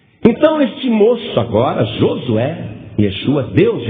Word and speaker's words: Yeshua: aí ao lado do nome de Josué que se pronuncia em hebraico Yeshua escreva o significado do